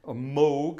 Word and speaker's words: Moog: theremin the theremin was invented by moog moog as it should be pronounced the same company that